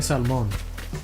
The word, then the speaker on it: salmon: The only excuse I'd be willing to say, like, okay, sure you're pronouncing the L in salmon, is if you're like Hispanic, you know? Because what we say salmon, I think.